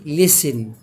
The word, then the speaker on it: listen: طبعا انا معلش عامل علامة اكس على ال، يعني هنا وهنا هتلاقيني عامل علامة اكس، يبقى دي listen، دي ايه؟